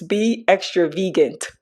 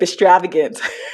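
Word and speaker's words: Be Extravant: it just clicked like it's be extra vant and I've been saying extravagant for all this time so I'm not a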